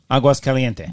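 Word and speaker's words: Aguas Calientes: Aguas Caliente. Thank you for pronouncing right, that but before we got to Aguas, there was the train.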